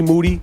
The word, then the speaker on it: Moody: Moody. The last name rhymes with duty.